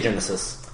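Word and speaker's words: Genisys: pronounce this freaking title it's g-e-n-i-s-y-s like system so I would just say Genesis it's how it's supposed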